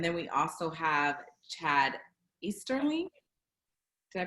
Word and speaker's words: Easterling: And then we also have Chad Easterling. Did I pronounce it right?